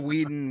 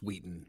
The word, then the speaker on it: Wheaton: Wheaton said uh will Whedon Whedon whatever will Whedon is um it's Wheaton by the way whatever well we you